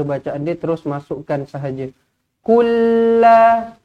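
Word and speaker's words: قُل لَا: Kulla, nah dia lambatlah. Kulla, jangan kula pula.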